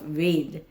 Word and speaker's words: Ved: The pronunciation of Ved, it must be V-E-D alone.